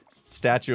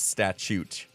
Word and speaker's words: statute: Where Seinfeld was teaching Kramer that it's statute of limitations. I think that's how you say it.